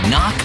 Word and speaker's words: knock: And a silent K is also the first letter in knock over.